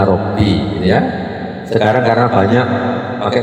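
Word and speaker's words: رَبِّ: Ini meskipun harokati di atas, karena di bawahnya tasdid bacanya Robbi, ya. Sekarang karena banyak pakai komputer itu mesti begitu. Dan tidak ngerti kadang-kadang orang bacanya Robba.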